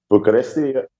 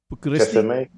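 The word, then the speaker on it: București: How do you say that? Bucharesti. Bucharesti. Yep.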